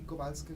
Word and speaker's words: Kowalska: Era de la tercera hija de los Kowalski, se pronuncia así Kowalska como V, de Polonia.